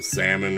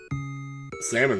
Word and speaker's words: salmon: that though everybody loves salmon it's gonna weird how you don't pronounce the L in it but when I was